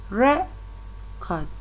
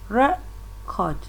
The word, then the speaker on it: record: But when the word a stress is placed on the first syllable, it is a noun, and when it is placed on the second syllable, it will change to a verb.